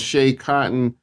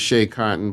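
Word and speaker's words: Schea Cotton: Also, my man King Crooked got a song called Shea Cotton. I believe that's how you pronounce it. It's SCHEA. I believe it's Shea Cotton.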